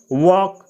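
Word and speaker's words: walk: प्रातः वक यानी टहलना इसमें एल का उच्चारण नहीं किया जाता है इसको पढ़ा जाता है वक वक यानी टहलना प्रिपेयर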